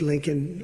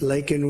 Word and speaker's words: Laken: months of prodding him Biden couldn't pronounce her name he said uh he said Lincoln linol Riley and Lincoln Riley's the football coach the coach and